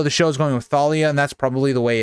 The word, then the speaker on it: Thalia: set off they meet at Thalia or talia's tree I've kind of heard it pronounced both ways so not sure the way that it's pronounced so if you guys want to let me know let me know down I'm going to go with the way I've always said it is Talia I know the show